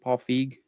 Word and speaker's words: Paul Feig: it's from Paul Fe F how do you pronounce it Paul feig F yep you got it which one um